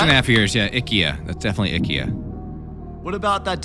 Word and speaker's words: IKEA: IKEA. Whoa! Jody, you went. How long did it take you to graduate college? Only like 6.5 years, Six right? and a half years. Yeah, IKEA.